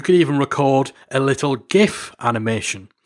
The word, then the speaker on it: GIF: Maybe, and this is something we've done with clients before, you could even record a little GIF animation. And it's GIF, I refuse to pronounce it GIF.